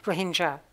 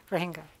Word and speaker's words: Rohingya: Rohingya is the correct way to say it. Rohingya, you'll help me out there.